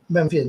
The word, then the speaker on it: Memphian: So Pinaky has been a Memphian. Is this pronounced properly? Memphian, yeah.